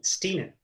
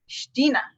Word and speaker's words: Stiene: Stiene or Stein? How do you say your surname? Stiene. Stiene.